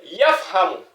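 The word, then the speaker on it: يَفْهَمُ: Donc, vous voyez, yafhamu, yafhamu. Voilà la lettre que nous avons utilisée ici, c'est la lettre Fa. Voilà. Yafhamu, comme F.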